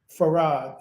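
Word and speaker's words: Fard: that in its order farad is how you say f a r d and IM Muhammed he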